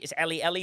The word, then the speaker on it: E11E: And Paulina, you're the closest to ever getting to pronounce that name really well. It's Ellie, but we call her E11E because she's a legend in this community of ours.